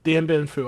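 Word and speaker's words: Điện Biên Phủ: Yeah, Dien Bien Phu.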